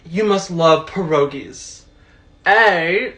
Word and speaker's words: pierogi: have the audacity to pronounce it pierogi broken it's pierogi say it with me now Pierre pierogi there you go literally every time